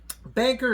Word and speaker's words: BNKR: Banker is spelled B-A-N-K-R, and then coin, all one word.